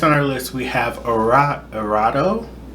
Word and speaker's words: Erato: Next on our list we have Erato. Pretty sure it's not supposed to be pronounced this American.